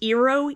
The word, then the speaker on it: Eero: And it is a wall mount for an, I think it's pronounced Eero, E-E-R-O, 6 mesh Wi-Fi system.